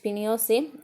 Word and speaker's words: Pinochet: General Augusto पिनोशेट pronounced Pinochet, an army general, led to the coup।